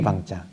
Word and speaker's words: 방: 그래서 이 덕산은 방이라고 해서 몽둥이 방자. 봉이라고도 쓰죠. 이거를 발음을 방이라고 해요.